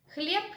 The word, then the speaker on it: хлеб: In the Russian language, the voiced consonants are pronounced as voiceless consonants at the end of the word. In this case, voiced consonant B is pronounced as its voiceless pair P, хлеб.